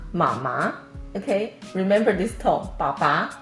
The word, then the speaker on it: 妈妈: And usually we pronounce it as 爸爸, mama.